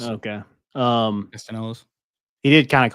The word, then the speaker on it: Castellanos: I think you pronounce the L's in his. Okay. Castellanos.